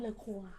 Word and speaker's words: Le Roi: - It's pronounce "Ler Qhouir".